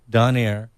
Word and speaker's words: Donayre: That's Danny Donaire, and it's spelled Donayre.